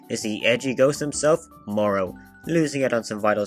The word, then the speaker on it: Morro: the edgy ghost himself Morrow losing it on some vital scary points as his name does rhyme with tomorrow at first marrow seems like a pretty